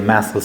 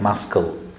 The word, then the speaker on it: muscle: gym to make their muscles stronger, right? So, communication works like a muscle. Remember it it it should not be pronounced like muscul. Okay? Muscle. Muscle. Got it?